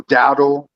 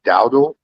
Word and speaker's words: Dowdle: Let's go, Dowdle. I think that's how you say his name, right? Dowdle.